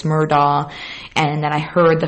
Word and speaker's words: Murdaugh: of the murdah story i talked about how the name is said all these different ways but that google says it's murdah and then i heard